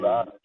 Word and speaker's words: DLobs: Is it pronounced Yeah, DLobs? DLobs, yeah, DLobs.